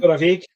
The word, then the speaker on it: Torabhaig: How do you pronounce that? One we're drinking? Torabhaig.